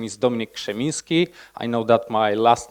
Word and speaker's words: Krzeminski: my name is dominic schminski i know that my last name is kind of a nightmare but it's actually pronounced but if you like break it down like this shiminsky is like close enough so like quick lesson